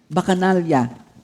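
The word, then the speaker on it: Bacchanalia: Bacanalya thank you Lord. Bacanalian. That's the way how to pronounce it.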